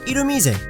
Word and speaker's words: Illumise: Over there, it's pronounced Irumise.